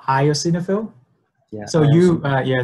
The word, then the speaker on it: eosinophil: pronounce this it's called io signa film yeah so you yeah so you just get rid of the the e part just call it I so just ice in a film yeah I mean you